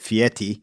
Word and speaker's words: Fieri: Dives uh and that's Guy Fieri or as he uh for some reason pronounces it fiti uh he does yes